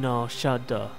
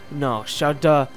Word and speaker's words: Nar Shaddaa: Before landing on Tatooine, Obi-Wan had spent some time hiding on Nar Shaddaa. The name of the moon, by the way, also has 2 different pronunciations, Nar Shaddaa and Nar Shaddaa.